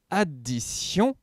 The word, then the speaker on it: addition: C'est justement parce que dans le mot addition, on retrouve le TI qui se prononce si.